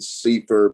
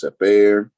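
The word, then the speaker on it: Cepher: the seifer or sapir it spells c-e-p-h-e-r uh some people call it seaford because it's a little bit easier to say safer but its actual pronunciation is separa and we use it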